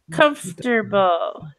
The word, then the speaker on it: comfortable: is comfortable comfortable but I'm not saying the oh in the middle Karl this disappears completely right comfortable maybe because I misunderstood the teachers correction maybe comfortable comfortable eager the O is just invisible like where did it go comfortable it just disappears also our neck are